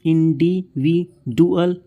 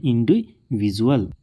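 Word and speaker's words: individual: देखिए जैसे कि इंडिविजुअल तो इसको हम इंडि वि डुअल ऐसे नहीं पढ़ते यहां पर जो डी है उसके बाद यू ए एल है तो यहां पर ये बन गया है ज इसको हम पढ़ते हैं इंडिविजुअल फिर देखिए जैसे कि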